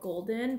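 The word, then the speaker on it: GLDN: It's from a brand called Golden, but they spell it G-L-D-N.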